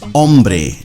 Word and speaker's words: hombre: Now, the first word for today is hombre. Notice you don't pronounce the H.